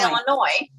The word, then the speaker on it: Illinois: But it's like you live there, you The should S say, is silent. yeah, Illinois. that's Illinois. Illinois.